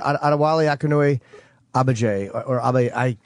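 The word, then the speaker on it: Adewale Akinnuoye-Agbaje: No, I think I want to say the G is going to be sounded Adewale Akinnuoye Agbaje.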